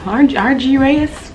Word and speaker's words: argyraeus: I should have looked up how to pronounce it. Argyaeus. I have my computer right here. Oh, Argyaeus was pretty much it, yes.